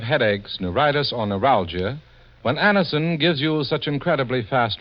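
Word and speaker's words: Anacin: Get a handy box of Anison tablets at your druggist tonight. For most effective relief, use only as directed. It's spelled A-N-A-C-I-N. Anison.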